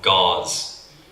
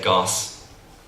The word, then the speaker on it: gauze: someone try and say, they want to say, I don't know, gauze. but then they say goss because they didn't pronounce the Z properly.